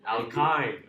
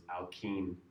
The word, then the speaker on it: alkyne: learning functional groups, and I had them repeat after me. Alkane, alkane, alkene, alkene, alkyne, alkyne. Because it is. It doesn't make sense, and I even remember when I was learning it, the Y I would pronounce as E sound, so it's alkene to me.